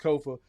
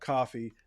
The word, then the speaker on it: Kofa: Once again, I have been your humble host, Kofa, Kofa, not coffee, not kufu, not Kofi, or any variation thereof. Kofa rhymes with sofa.